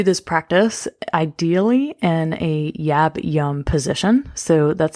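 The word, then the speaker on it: yab-yum: want to do this practice ideally in a yab yum position so that's spelled y y-a-b-y-u-m and well this is a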